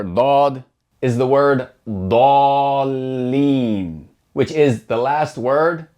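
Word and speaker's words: الضالين: And notice how in Sura al-Fatiha, that heavy D sound along with the fatah, it's not pronounced as da. You don't hear da leen. It's pronounced like da da leen.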